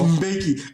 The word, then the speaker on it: Mbeki: Motherfucker, you know how to spell it. Thabo. It's Mbeki. Come to let's go. Let's work it. Mbeki.